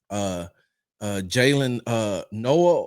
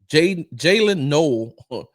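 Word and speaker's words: Jaylin Noel: He's working with Jalen Noah and Jaden Higgins. Jalen Noel and Jaden Higgins. Make sure I got that right. Yeah. I just want to make sure that I pronounce that young man's last name the right way.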